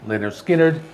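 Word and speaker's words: Lynyrd Skynyrd: with their debut album called pronounced leonard skinner this is one of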